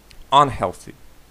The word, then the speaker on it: нездоровий: Нездоровий. Нездоровий. Нездоровий. Тут наголос падає на другий склад.